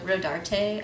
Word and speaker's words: Rodarte: It's also a little inspired by the Rodarte, I think is how you say it. Rodarte.